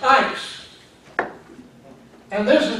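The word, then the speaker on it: εἰς: And the other one is E-I-S, pronounced ice.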